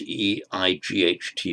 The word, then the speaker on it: eight: in Old English, and spelt E-I-G-H-T, but pronounced eight in modern English.